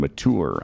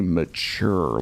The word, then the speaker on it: mature: And you know that because of how I pronounce the T. And mature. I don't say mature like a CH. I really bang that T.